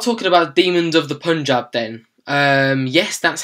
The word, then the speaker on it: Punjab: right let's start talking about demons of the Punjab then yes that's how it's pronounced thank God demons of the Punjab I didn't know quite when I first read